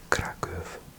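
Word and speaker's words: Kraków: I think in English we might call it crack. Do we? I can't think in British English what we pronounce. It's crackle in Polish.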